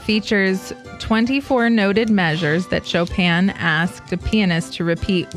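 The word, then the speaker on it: Chopin: 19th Century composer chopan choen no you say it chopan I looked it up specifically because I did not know and I didn't want to pronounce it correctly it is chopan Steven stinking Foster oh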